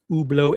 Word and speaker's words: Hublot: Because now we're going to get into ublau and we're going to get into zenith which are pronounced ublau and zenit in French.